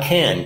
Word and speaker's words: can: I can do that you notice there's two different ways of saying can when you say can by itself it is the ax ound that open a sound like they've indicated on the slide if you're using the